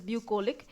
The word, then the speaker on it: bucolic: Our next vocabulary word is bucolic, or you can pronounce it as bucolic or bucolic.